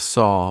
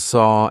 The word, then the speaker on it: saw: or saw I hear a lot of Saw but it's not it should rhyme with door door and saw and War should all rhyme they should all rhyme so